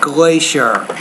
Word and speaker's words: glacier: so that we're glacier the CI in the middle of a word is usually pronounced as an SH sound glacier first according to this